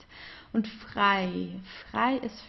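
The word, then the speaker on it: frei: EG that's I so it's pronounced the same as the English I like I do this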